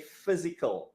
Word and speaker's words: physical: We say physical. Yeah, the PH sound has the PH sound has an F sound.